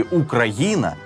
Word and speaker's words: Україна: діти Схоже що ні адже наголос у слові Україна саме на літеру гі так само як і в прикметнику український і знову бачили цей